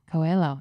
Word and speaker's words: Coelho: oh i'm going to say it wrong huelo coelho yeah thank you cheryl burke as well as